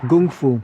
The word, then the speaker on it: kung fu: The definition of kung fu, or gung fu, as Bruce Lee pronounced it, a lot of people think that's just meaning martial art.